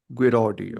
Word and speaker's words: Guiraudie: Am I pronouncing this correctly? Guardi. Yeah. Guardi.